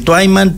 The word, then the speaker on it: Twyman: ¿Está bien pronunciado así, no? El Twyman te quedó muy bien, ¿sí?